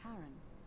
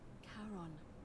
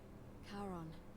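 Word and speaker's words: Charon: is a little off the name you heard wasn't Karen it was c h a r o n as in Caron the ferryman of the Dead karon who in exchange for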